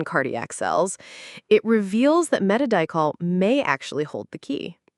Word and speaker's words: Metadichol: It's pronounced metadol.